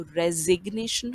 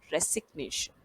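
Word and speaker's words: resignation: तो रेजिग्नेशन होता है, ना कि रेसिग्नेशन।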